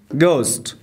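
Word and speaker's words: ghost: ما معمولا تلفظ نمیم گست گست به معنای روح هست که در اینجا ما حرف ا را تلفظ نمیکنیم next بعدیش ه زمانی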